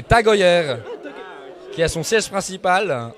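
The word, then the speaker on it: TAG Heuer: si vous le mouvez si vous le voulez en prononciation très mauvaise c'est taguer mais c'est tager qui a son siège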